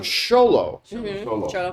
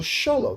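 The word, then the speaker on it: Xolo: the way I learned I've been pronouncing uh zolo's name yeah probably it's cholo uh so the star Blue Beetle sholo there I learned something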